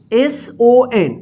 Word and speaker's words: son: ठीक है, तो ओ का अ उच्चारण देखिए यहां पे SON, सन। इसको सौन मत पढ़िएगा, ध्यान रखिएगा, इसको याद कर लीजिएगा।